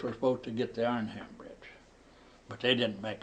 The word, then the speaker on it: Arnhem: Armand? Now you say it, I can't say it right. Arhman. Yeah, Arnhem. Arnhem. Put the hard R in the front.